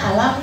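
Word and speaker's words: أَلَمْ: Kenapa dalam awal Al-Insyirah dibacanya Alam Nashrah? Padahal sama loh. Alam sama Alif Lam Mim itu sama. Sama-sama Alif, Lam, sama Mim. Kenapa yang satu dibaca Alam, yang satu dibaca Alif Lam Mim?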